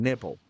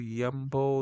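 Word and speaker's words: Nymble: And nimble. Nimble. Is it nimble? Nimble. Yumble. Y nimble. I don't know. You tell me. Comment down below. Am I saying it right? Nimble. N. Don't say the Y.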